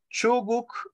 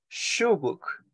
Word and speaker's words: shuguk: Recordemos la pronunciación de la SH. No es chuguk, no. Es shuguk.